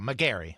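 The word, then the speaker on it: Megarry: again would be published by Guiden games oh McGary that's fair David McGary Ethan correcting the pronunciation as he often does which I appreciate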